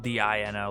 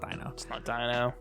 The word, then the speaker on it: Dino: you know best player because it's spelled d-i-n-o like dino yeah so there's just everybody's like oh that one with the dino deck profile it's like ah it's not dyno which is a very